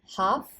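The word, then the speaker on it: half: एक पत्ती कई पत्तियां हाफ यहां एल साइलेंट रहेगा हाफ हाफ लोफ इसे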